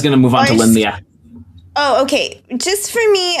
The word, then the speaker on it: Lin Lie: Scott taught me that Lin-Lie, which we like kind of said right, but the second word is supposed to be one syllable, like Lyeh, which is just not a sound we use in English. So good luck with that.